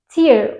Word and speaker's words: tear: Cümlelerini direkt fiille başlıyoruz tear diye okunan bu kelime ayırmak demek biliyorsunuz ki Bu kelimenin Bir de tear okunuşu var Eğer bu kelimeyi tear diye okursak gözyaşı anlamına gelir bu cümlede de şarkıcı yine